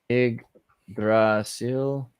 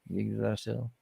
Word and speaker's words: Yggdrasil: Yggdrasil? Not Yggdrasil. Yggdrasil.